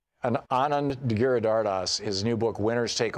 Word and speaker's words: Giridharadas: Giridharadas. Anand Giridharadas, his new book, Winners Take All, Elite Charades of the Elite Charade of Changing the World.